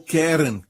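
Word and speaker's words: קרן: desta aqui Caron Caron a palavra Hebraica para ela é Karen ou querem é assim se pronuncia em hebraico querem se o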